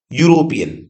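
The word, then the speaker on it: European: लेकिन अब यहां पर देखें, ये ई से शुरुआत हुई है लेकिन इसका उच्चारण देखो, यूरोपियन, यूरोपियन, है ना। तो यूरोपियन का मतलब है इसकी शुरुआत ई से नहीं हो पा रही है, इसका जो उच्चारण है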